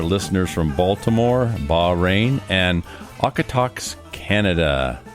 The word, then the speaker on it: Okotoks: We want to welcome all of our listeners from Baltimore, Bahrain, and Okotoks, Canada. How do you know it's pronounced Okotoks?